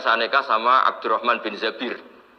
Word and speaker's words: Zabir: Kemudian saya nikah sama Abdurrahman bin Zabir. Di hadis ini bukan bacanya bukan Zubair tapi Zabir, Abdurrahman bin Zabir.